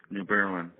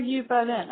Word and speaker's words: New Berlin: How do you say that? New Berlin. New Oh, New Berlin. Okay. Yeah. I was going to say just think of the city in uh in Germany, Berlin.